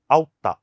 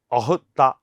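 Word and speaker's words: أخت: ഇനി അറബിയിലേക്ക് പോയാൽ ഔത്ത എന്ന് സഹോദരിക്ക് പറയാം. അത് കൃത്യമായ ഉച്ചാരണമല്ല, അത് അഹുത്ത എന്നാണ് പറയുന്നത്.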